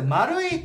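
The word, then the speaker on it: 丸井: 飛はいでまず丸いこう説明しておくと百貨点のことよねでえっとその名前っていうか看板が oi で丸いって読むことになって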